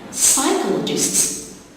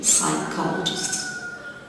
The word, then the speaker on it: psychologists: Psychologists, you got two silent letters, P in the beginning and the H after the C. Psychologists.